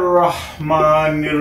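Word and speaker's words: رحيم: আপনারা অনেকে দেখবেন বিসমিল্লাহির রহমানির রাহিম লেখা আছে বাংলায় সেহেতু আমরা রাহিম বলবো না আমরা বলব রহিম সবসময় আমরা খেয়াল রাখবো রাহিম বলবো না বলবো রহিম তাহলে আর এখানে রহমানির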